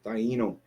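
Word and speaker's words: Taíno: The Taino, if you want to say it correctly.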